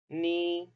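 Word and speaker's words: 你: आई Chinese में हम कैसे प्रोनाउंस करेंगे? वा, वा। Repeat after me. वा, वा। उसके बाद है यू, नी, नी।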